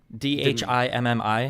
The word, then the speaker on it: Dhimmi: When you talk about, how do you pronounce Dhimmi? D-H-I-M-M-I, how do you pronounce it?